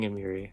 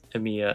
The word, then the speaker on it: Amiya: I said her name wrong every single time. Amiya, actually. We would have been in